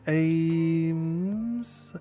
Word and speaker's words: Ames: It's pronounced Ames. Ames? Like AIM. A-I-M. It's kind of like A-I-M with an S, right? Like Ames.